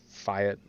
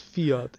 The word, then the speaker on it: Fiat: Yeah, no, I think the first time I pronounced it was Fiat, but it's Fiat. It's Italiano.